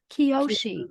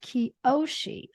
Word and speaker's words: Kyoshi: She's also an author and a master teacher, and she holds titles of, is this Kyoshi? How do you say that? Kyoshi. Kyoshi.